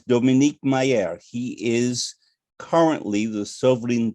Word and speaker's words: Dominique Meyer: met today's guest and i'm going to use the french pronunciation and if you tell me to do otherwise i shall is dominique mayer he is currently the